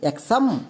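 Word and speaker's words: exam: একই রকমভাবে আরেকটি এক্সাম্পল দেখো। যেমন ই এক্স এ এম এর উচ্চারণ কি হবে? এক্সাম নাকি এক্সাম।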